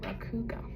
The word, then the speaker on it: Rakugo: Table of contents and rau, this is how you pronounce it, raugo.